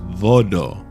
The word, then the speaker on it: Voodoo: it's it's called voto the correct pronunciation of Voodoo is Vado and that's what that